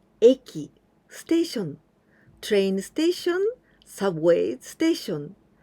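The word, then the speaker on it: 駅: you like this there's only one way to pronounce eki station train station subway station and i want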